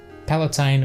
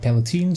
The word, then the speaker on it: Palatine: So Palatine and not Palatine, so it rhymes with wine.